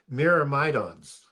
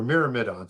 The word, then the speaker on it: Myrmidons: does is he creates a group called the Myrmidons or Myrmidons, however you want to pronounce it.